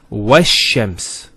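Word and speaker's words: والشمس: This is al of definiteness. This is hamzat al-wasl. It's not pronounced, because there's something before it. Similarly, this lam is not pronounced either, because as we said, this is from the sun letters, and there's a shadda there. So it's wash-shams.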